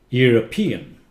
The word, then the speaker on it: European: not Europe EUR Europe people who live in Europe Europe is a continent European you see the accent changed Europe European okay Dutch